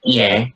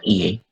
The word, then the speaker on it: hier: Kemarin itu tulisannya hier, ini bacanya iye, ya iye, ya. Nah, r kalau di akhir jangan baca.